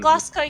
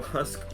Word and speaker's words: Glasgow: But yeah, Then- Glasgow kiss.